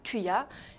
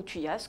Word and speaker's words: thuya: grand arbre conifère et il se prononce simplement thuya et non pas celui-là ou thuyas comme vous pouvez peut-être l'imaginer et enfin le dernier